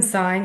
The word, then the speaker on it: sign: But it's interesting to me that it's spelled SIGN. And what's even more interesting is that our signature is SIGN. That's even more of a clue that to the codes, and the fact that the G is silent, right?